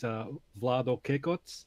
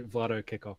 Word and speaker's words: Vlado Kekoc: So what we call here in Australia, WOGs would say is Vlado Kekoc. Okay. But most Australians say Vlado Kekoc.